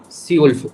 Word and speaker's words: zwölf: Zwölf. Z we have to pronounce as S.